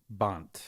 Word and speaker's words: Bont: Bont.